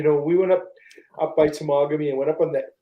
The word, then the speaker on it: Temagami: You know, I had a friend, instead of saying Temagami, which is the correct pronunciation of it, he used to call it Tamagami. Tamagami. Because he reads it, it's Tamagami, right?